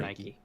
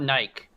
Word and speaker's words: Nike: so that last word how do you guys pronounce it water Nike it's not naik yeah yeah see Jess pronounced its purpose is